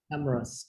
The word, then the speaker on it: cameras: cameras no cameras cameras cameras you skip the e okay cameras cameras cameras like no